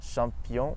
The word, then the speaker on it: champion: In English, the CH makes a ch sound, but in French it's always sh, like in the word bush or shingle. And in French we have champion et tache.